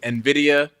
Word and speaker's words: Nvidia: say the I don't want to say the name wrong uh nid and Nvidia yeah Nvidia yes um they make uh uh